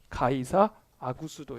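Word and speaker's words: 가이사 아구스도: 아우구스투스 가 되는 거예요 그 사람의 한국식 발음이 가이사 아구 수도 입니다 가이사 아구 수도는 자신이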